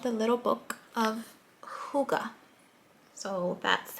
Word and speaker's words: hygge: too and it's called the little book of hygge so that's how you pronounce it i learned how to pronounce it